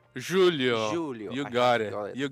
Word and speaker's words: Júlio: Everybody I know from Brazil like Julio I mean I just heard a pronunciation Julio. Julio.